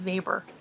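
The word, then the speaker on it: Weber: another very interesting book a classic is max Faber that's w/e ber but he's German so it's pronounced neighbor um max favors classic book the Protestant ethic and the spirit of capitalism now vapor doesn't really fit in with either functionalist or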